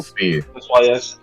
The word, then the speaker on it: Fi: the uh the room, is it pronounced fi or fe? That is up to wall-ally in this campaign because there's a lot of debate within the Let's go fe easier pronounced than fi. Fe is easier pronounced than fi. So, it's fe.